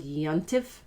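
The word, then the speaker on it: יום טוב: means happy holiday or good yantef which is a yiddish way of pronouncing yomtov which means holiday or you could say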